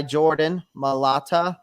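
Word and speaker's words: Jordan Mailata: Then your guy, Jordan Malata, right?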